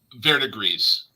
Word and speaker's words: verdigris: Verdigris.